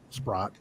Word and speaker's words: Spratt: Renee asked the entity, she goes, we have permission from Alexis Spratt, because now it's pronounced Spratt. Back then it was Sprott.